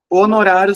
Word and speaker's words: honorário: Honorário são nove letras e tem um H que não tem som, então são oito fonem.